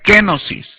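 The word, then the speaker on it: κένωσις: La palabra aquí, rebajarse, o renunciar, es una palabra griega muy interesante que se pronuncia kenosis.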